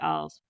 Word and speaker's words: Arles: No, it was like after Arles, I think it's a town called. I don't know if I pronounce it right. Yeah, Arles.